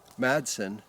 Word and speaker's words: Madsen: is actually back to this Madsen which some people tell me forget about the D in the pronunciation so this is that